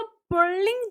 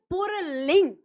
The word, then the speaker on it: पुल्लिंग: हैं ना पुल्लिंग, तो पुल्लिंग जैसे कहते हैं तो अक्सर हमको उच्चारण के टाइम पे इसमें पुरलिंग ऐसा उच्चारण आता है। तो याद रखिएगा, कभी भी ये पुल्लिंग र इसमें नहीं होता, ये पुल्लिंग होता है, यानी जो हमारा